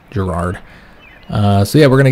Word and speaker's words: Gerard: it that, but yeah, in German this might be Gerhard, I don't know, but yeah, keep on pronouncing it Gerard.